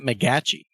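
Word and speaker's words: McGachy: I think it's Matt McGeachy. McGeachy. It's like Tom McGeachy's. That's how you pronounce it.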